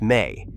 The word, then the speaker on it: me: The me pronounced may is a Sumerian concept